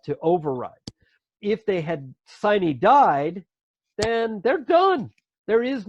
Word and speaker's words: sine die: It's sine die is actually the proper pronunciation, and it means until a certain date.